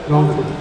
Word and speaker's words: রংপুর: রংপুর বললেন। আমরা তো জানি রংপুরের লোকেরা বলতে পারে না, তারা অংপুর বলে।